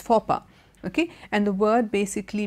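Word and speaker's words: faux pas: a s is pronounced papa okay the X and s and all are silent now this word you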